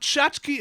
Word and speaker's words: Tchotchke: Next up, Tchotchke Elemental. Yes, that is how you spell that.